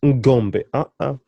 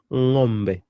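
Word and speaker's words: ng'ombe: It's not ngombe. Hapana. No, it's not ngombe. It's ngombe. Hang. Ngombe. Ngombe.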